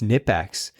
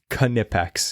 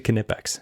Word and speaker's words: Knipex: shirts that said it's knipex because that's how they pronounce it in that language so it's actually knipex so you're right yeah and if you pronounce it nipex sorry but or neex